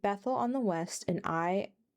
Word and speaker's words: Ai: on the west and Ai I think that's just pronounced Ai on the east.